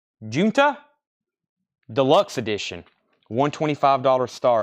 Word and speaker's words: Junta: uh and fish 125 Junta okay it's pronounced Junta not junta it's h instead of a j sound um and we'll do